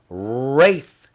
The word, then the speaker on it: wraith: And when you say the word wraith, you also say it with an R. But wraith begins with a W, and it doesn't begin with an R, but it sounds like it.